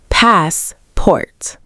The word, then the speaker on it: passport: Stress the first syllable, passport. Great job.